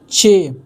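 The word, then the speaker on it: چ: यह है चे, इसको बोलेंगे हम चे, इसको पढ़ेंगे चे, लेकिन इसकी हिंदी होगी च।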